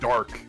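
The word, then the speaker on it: Darke: I thought it said Joe I think Drake. it's dark. I think it's dark. Like the E is silent.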